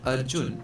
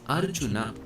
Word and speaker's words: Arjuna: So this right here is not arjun or arjuna it's arjuna.